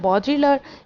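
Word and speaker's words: Baudrillard: ये बॉड्रिलर, इसमें भी डी स्टूडेंट साइलेंट है, बॉड्रिलर इसको हम बोलेंगे।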